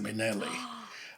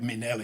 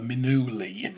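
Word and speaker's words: Minnelli: said that's interesting because it sounds like Minelli and he said yes and then that's when I said well it's funny because I used to lip sync and one of her songs is people mispronounce her name and call her minui right okay they call her Lisa minui so that's where he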